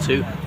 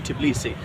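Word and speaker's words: Tbilisi: the Russian Empire uh it's t back then but that's a mispronunciation it should be tii and now even in Russian it is tii okay so Freedom Square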